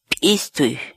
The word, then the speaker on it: p'istuy: hoy es estoy esto estoy la palabra quechua pishtay en español significa envolver arropar abrigar por ejemplo